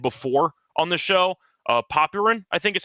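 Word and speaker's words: Popyrin: I know that it's technically pronounced Popin, but he doesn't deserve that after what happened today uh yesterday.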